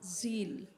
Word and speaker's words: Zeal: ज़ील, I can't hear you. ज़ील, No, L, God, and Z. Z L. Who is with God? तो परमेश्वर के साथ Who is कौन with है? God? ज़ील।